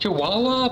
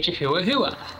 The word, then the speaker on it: Chihuahua: the seraa you know I know it's pronounced Chihuahua but I cannot look at the name of that dog and not want to say chuaa like am I the